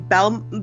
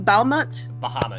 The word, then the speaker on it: Bahamut: How do I pronounce his name? Balmut? Bahamut. Bahamut. Bahamut. Bahamut, okay.